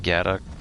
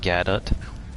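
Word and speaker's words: Godot: like a couple engines i think it's like gada um i'm not sure if i pronounced that right gadot gat oat name is gadot uh there's unity and there's um through unreal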